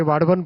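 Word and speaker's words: वाढवण: जैसे वाडवन पोर्ट है डाहणू के पास में महाराष्ट्र में, इसको वदावन मत बोलिएगा ना, वाडवन है इसका करेक्ट नेम। महाराष्ट्र में काम कर रहा हूं ना तो मुझे करेक्ट प्रोनाउंसिएशन इसका मिला वहां, वाडवन पोर्ट।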